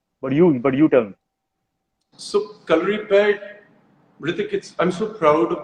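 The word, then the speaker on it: Kalaripayattu: so, calorie pad, Rithik, I'm so proud of the fact that you said the name correctly because in India, I Thank don't you.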